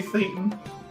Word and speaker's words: Thayton: You can call me Thayton. Thayton, with a th. Yeah, with a th. Okay, hello, Thayton. They heavily pronounced Sounds like Satan with a lisp.